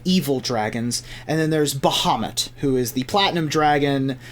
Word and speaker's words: Bahamut: And then there's Bahamut, who is the platinum dragon, the god of metallic dragons and good dragons. Hopefully we get a Bahamut, or a Bahamut, depending on how you want to pronounce it.